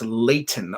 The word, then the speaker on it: Leighton: you again hold on is pronounced Layton okay that's what I